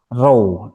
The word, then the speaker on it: ρ: Ini bacanya adalah row atau kalau kita tuliskan ini bacanya adalah row.